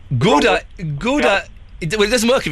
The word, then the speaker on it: Gouda: Do you mean Gouda? Gouda. It's Gouda. Gouda. No, it's Gouda, and I tell you why it's Gouda, because we have a joke in our house. I'm 1/8 Dutch.